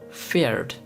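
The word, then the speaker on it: Pferd: PF, which has puff sound, and the example for PF is feared, which means horse.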